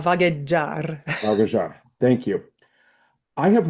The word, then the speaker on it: vagheggiar: One, and I'm probably going to butcher the name of the aria because, Italian is not my first language. But it's Tornami a Oh, Vahagiar. yeah, tornami a vagheggiar.